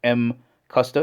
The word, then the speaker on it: MCUSTA: of the company here pronounced M Custer It's a combination of two words machine or man machine